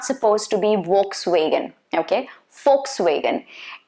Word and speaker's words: Volkswagen: to be volkswagen okay volkswagen v is supposed to be pronounced as f be careful about that okay volkswagen very common